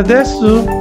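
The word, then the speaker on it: です: Imbis na desu, des na lang.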